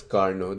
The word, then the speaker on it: Carnot: It's spelled as Carnot, but it's pronounced as Carnot. This T over here is silent, and that's because this Carnot was a French person.